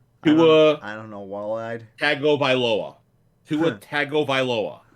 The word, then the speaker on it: Tagovailoa: Tagovailoa. Tagovailoa. Right? Tagovailoa.